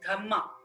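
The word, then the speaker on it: dhamma: is known as ashoka's dhma in Pali in Pali language DH is pronounced as dhma d h m m a so through his dhama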